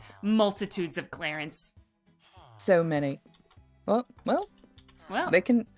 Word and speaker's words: C. Lawrence: One of my hummingbirds wants one of the Clarences to be named C. Lawrence, but it's pronounced Clarence.